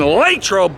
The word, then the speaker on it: Latrobe: Friday Night Lights in lro Pennsylvania and if you've ever wondered how do you pronounce it is it lot trobe is it Latrobe well the locals call it lro huddle up Steelers Nation